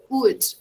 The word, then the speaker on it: would: So, would you like me to, always remember, guys, this auxiliary verb here, would, okay? We don't pronounce the L. The L is silent.